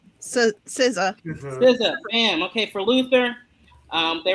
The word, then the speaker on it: SZA: And I'm going to pronounce her name. Is it SZA? Saya? SZA. SZA.